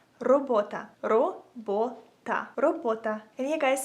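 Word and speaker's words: робота: So if you want to say work in Ukrainian, you would say it like robota.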